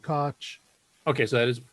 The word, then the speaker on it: Koch: Someone said Koch. Okay, so that is correct pronunciation.